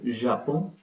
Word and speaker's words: Japon: And it's being pronounced but in a nasal form. So you can say it is silent but not exactly. Japon. Japon. Japan. So N is coming into it but in a nasal sound.